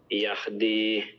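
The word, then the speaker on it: يهدي: Yahdi, Say that again. Yahdi. So not ha, but ha. So yahdi.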